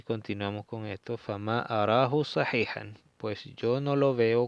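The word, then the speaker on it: صحيحًا: con esto, fama arahu sahihan, pues yo no lo veo correcto. In tarahu sahihan, fama arahu sahihan. Sahihan, esta sa, acuérdense pronunciar bien la sot, esa es la letra sot, so, y no sa.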